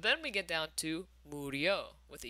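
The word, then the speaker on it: murió: Mori and Moriste are totally regular, but then we get down to Murio with a U.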